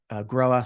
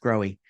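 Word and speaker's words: Grohe: And, you might recognize us from our major brands in the Americas, American Standard, Groa, sometimes pronounced Growy incorrectly, and DXV, and our tile brand called Enax.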